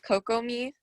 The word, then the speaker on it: Kokomi: three more public speakers kokomi if i'm pronouncing that right which i'm probably not i apologize kokomi kokomo um it's pronounced coco me coco me thank you